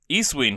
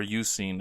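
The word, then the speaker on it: Eusine: Or Eucene, as I've since learned it's probably pronounced, which actually makes sense. I don't know why I ever said Eastwing cuz EU is the beginning of Europe, which is you.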